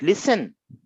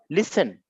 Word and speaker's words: listen: What you read it, listen, you don't read it list. N, you this T is silent, listen, right?